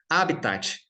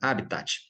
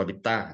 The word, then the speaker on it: habitat: A pronúncia recomendada também, de bem lá, do latim, é proparoxítona, habitat. Alguns pronunciam habitat ou habitat, até sem falar o T, né? Mas o ideal é o habitat, que já traduz essa ideia de natural, né?